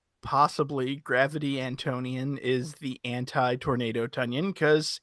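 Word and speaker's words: Antonion: It's pronounced Antian. No, Antonian.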